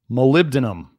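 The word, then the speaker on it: molybdenum: that I pronounce it so if you don't want to say malum just think of it as malib malib and then denum or think of like denim malib denum or you can call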